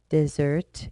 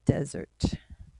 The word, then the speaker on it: desert: Okay, so the first pronunciation would be desert, and then the other one, the second one, desert, with the short E sound.